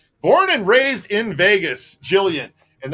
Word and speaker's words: Gillian: and raised in Vegas Jillian and that explains why your name spell with a G and pronounced with a J Vegas baby born and